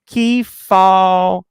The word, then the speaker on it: Kefauver: And we're not talking about, is it Kefauver? Oh, hold on. Lady in Gray gave me the pronunciation. Kefauver.